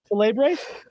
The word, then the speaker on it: Celebre: You guys know him from BarDown, content creator for TSN, Luca Celebre. Now, Luca, my first question for you, as someone who has their last name mispronounced a lot, did I say that right, Celebre?